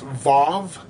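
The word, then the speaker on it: וו: a w uh but their W's are pronounced with a V sound so it's it's pronounced VAV so that's pretty cool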